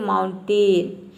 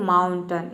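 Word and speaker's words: mountain: अब यहां पे देखिए कई स्टूडेंट इसको प्रोनाउंस करते हैं माउंटेन तो ये टेन नहीं होता है माउंटेन नहीं होता है ये होता है माउंटेन यहां पे हम ए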